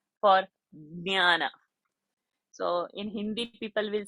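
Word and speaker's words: ज्ञान: But basically, nya is a formation of j and not g. G is in gutter, j is in palate. So in Sanskrit, we should not say gyan. So that is a Hindi pronunciation.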